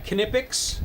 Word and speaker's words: Knipex: So yeah, Knipex. I think that's how the Germans pronounce it.